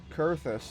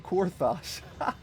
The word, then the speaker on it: Kurthus: Kurthus. I was saying Korthos.